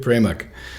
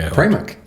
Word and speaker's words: Pramuk: I'm here with David Pramuk. And I did pronounce it correctly. Pramuk. Pramuk. Mm-hmm. I got it right, because once again, I got to say it, he's a Czechoslovakian boy.